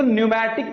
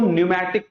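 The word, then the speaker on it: pneumatic: बच्चे, इसे न्यूमेटिक पढ़ा जाता है। यहां P साइलेंट है। यहां P साइलेंट है। इसे न्यूमेटिक पढ़ा जाता है।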